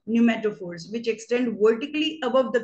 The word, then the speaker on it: pneumatophores: P is silent, pneumatophores, which extend vertically above the ground so that they can breathe in.